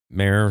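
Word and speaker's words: Mare: Mayor spelled like a horse, not like the actual mayor.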